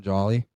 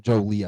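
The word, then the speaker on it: Joly: Now, I am a big I do really like Justin Jolly or Justin Jolie, I believe, is how you pronounce that last year.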